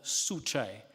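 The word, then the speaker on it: Juche: way of looking at things that is called suchai I hope I'm pronouncing that right and it's spelled j u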